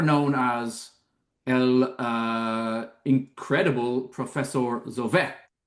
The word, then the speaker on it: Zovek: I think is it pronounced Zovek? Well, it could be, it could be, but I apparently think I read I that heard that the, on yeah, the stress though is apparently on vec, which is Zovek.